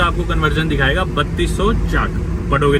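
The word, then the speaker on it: kyat: दरअसल इनकी करेंसी है KY80, आप उसे क्या प्रोनाउंस करेंगे लेकिन बोलते उसे चाट है, चाट। बर्मा करेंसी चाट, चाट, ओके चाट, इसे बोलते हैं चाट।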